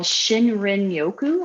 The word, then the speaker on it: shinrin-yoku: I don't know if you guys have heard about forest bathing, but there's a term in Japanese for forest bathing called Shinrin-yoku, I think is how you say it.